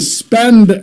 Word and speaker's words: SPEDN: All right, it's the Spend app, and it's spelled SPEDN, kind of the hodl or hold trend that we have.